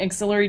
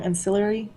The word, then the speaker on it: Ancillary: Best thing I've read recently: Auxiliary Justice and Auxiliary Sword, which I pronounce wrong. Ancillary.